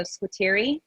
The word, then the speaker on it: Squiteri: correctly yes uh the sometimes in italian it's a hard q so squiteri but um that's okay